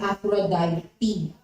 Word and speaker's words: Aphrodite: in Greek mythology usually the vowel syllables are pronounced Aphrodite it's afrodite so it's the goddess of sexual love and